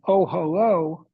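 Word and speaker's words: אהלה: But this is an unusual word because ohalo, it's pronounced ohalo.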